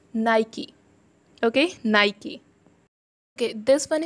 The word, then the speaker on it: Nike: Especially in India, I've heard so many people calling it Nike. They are using it, but still they are pronunciating it incorrect. But it is Nike. It's not Nike, guys. It's Nike.